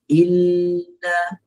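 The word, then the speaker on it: إِنَّا: Kemudian dalam solat tu nanti baca solatul kautsar maka betulkan cara bacaan permulaan permulaannya perlu dengung ya. Bukan lama mana pun dua harakat aje lamakan sikit aje. Inna ha barulah bacaan kita tu lebih baik.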